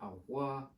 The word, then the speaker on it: avoir: Say it, avoir. Avoir. Avoir. Avoir.